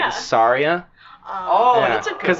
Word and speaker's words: Saria: Half the population on Earth calls her Sarah. Where? Why? I thought it was Sarah. It's not how it's spelled. No, it's It's Saria.